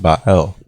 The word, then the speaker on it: Bael: the spirits you find the name bael pronounced by el ah el is said